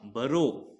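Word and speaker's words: burrow: डब्लू ये हो गया ब यू से ना अ की आवाज आती है तो ब फिर र ओ तो क्या हुआ बरो ब आधा र रो बरो ठीक है बरो का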